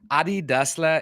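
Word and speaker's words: Adi Dassler: apart and a lot of people don't know ADI dla is actually the brother of the of the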